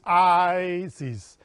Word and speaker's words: Isis: Remember that the I is pronounced like a double E, like in tree. Prolonging a sibilant sound with the S like that of the wind.